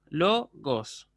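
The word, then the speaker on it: λόγος: Bueno, fíjense, en logos entonces tenemos 2 moras, logos. La sílaba que se acentúa es lo, entonces el acento que va a llevar va a ser ahí, agudo sobre la penúltima.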